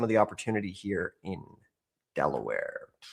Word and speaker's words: Delaware: So coming in at number one rhymes with underwear. We're going to go Delaware where one in every 1924 properties is currently in foreclosure.